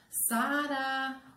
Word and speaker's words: Sara: Sara, ô Sara! Ela demorou mais no quê? No sa. Então, a sílaba mais forte da palavra Sara é sa, certo?